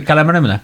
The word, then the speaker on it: Calamara: noticed that when you entered, yes, Calamara. Not distracting. Am I pronouncing your name correctly? Calamara. Yeah, that is correct.